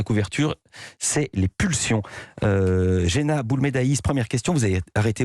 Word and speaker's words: Boulmedaïs: Je prononce bien votre nom ? Boulmedaïs.